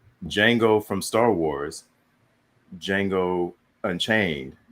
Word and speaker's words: Django: I was like, Django from Star Wars, Django Unchained. They're spelled differently, but pronounced the same.